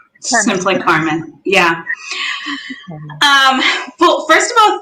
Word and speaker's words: CARM.N: How does the pronunciation? I'm going to make sure we get that Carmen. Right. Simply Carmen.